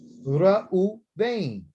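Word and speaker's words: ראובן: So here you got u, ra, u, vein. There's no bet in there, no dot. So there's no hard B. There's a V sound.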